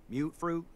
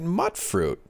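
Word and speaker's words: Mutfruit: Oh, potatoes, mute fruit, corn, whatever you can get to grow. Mute fruit? I've been pronouncing it mutt fruit.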